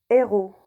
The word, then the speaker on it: héros: dit le handicap haricots ont dit le haricot héros le héros hauteur la hauteur je répète voilà